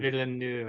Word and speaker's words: Villeneuve: Villeneuve, I believe is how you say it, Villeneuve, but I do okay. not speak French.